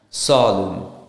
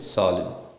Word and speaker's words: solemn: The letter N is not pronounced when it comes after M at the end of a word. For example, column, dam, solemn.